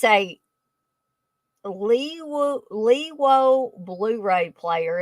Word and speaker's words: Leawo: It's a Lewo Blu-ray player.